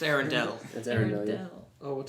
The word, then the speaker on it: Arendelle: It's Arendelle. That's Arendelle. Yeah. Oh, what did you say? Arendelle. It's spelled Oh, okay.